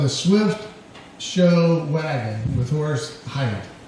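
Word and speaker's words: Horace Heidt: I guess his very first appearance on TV was on the Swift Show Wagon with Horus Height. Did I say it right? That's right. Good. In the American way.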